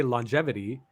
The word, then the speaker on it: longevity: It says, the word longevity is weird because it has a single G that gets pronounced both ways G's can be pronounced at once.